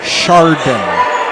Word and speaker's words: Chardon: you go too far it's shardan not high school that's how you pronounce it yes sir gotta